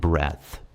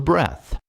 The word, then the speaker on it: breadth: In English, it's called the breadth. I'm not at all sure about the pronunciation, but I know how to spell it, and that's already something. It's B-R-E-A-D-T-H, so we'll just call it breadth.